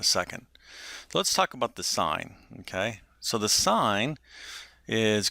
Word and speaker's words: sine: N and it's not sin I know it's spelled the same way it's not like you know you're going to church and you're committing the sin never be committed to